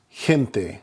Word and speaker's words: gente: Anytime the G is followed by an E or an I, then it is going to make the H sound. An example would be gente, G-E-N-T-E, gente, which is people. You can see the G followed by an E, it makes more of an H sound, gente.